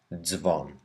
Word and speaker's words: dzwon: We need to pronounce each sound z whenever it doesn't have an I, as in bardzo or dzwon.